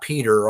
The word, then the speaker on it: Petter: And it's Petter, not Peter, although you can pronounce it Peter if you want to. It's Petr because it comes from he was a foundling and he was found in a petroleum barrel washed up on the beach.